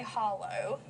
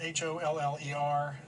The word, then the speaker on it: holler: country we spell it h-o-l-l-e-r yes if they spell it h-o-l-l-o-w yes but it's the same thing it's just our pronunciation is different at holler and we spell it the way we hear it yes and it's basically